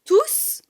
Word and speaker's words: tous: a rien après tous, si c'est le dernier mot de la phrase, le S de tous se prononce aussi.